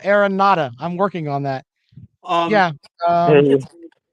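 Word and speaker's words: Aranda: marks about uh dave miranda and that he would be a good fit just about anywhere aaron yeah i pronounced his name wrong too dave aaron nada i'm working on that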